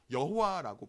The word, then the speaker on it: 여호와: 우리가 발음하는 여호와는 이 야훼의 자음에 아까 점 4개 찍었던 나의 주님이라는 아도나이의 모음을 붙여서 여호와라고 발음합니다.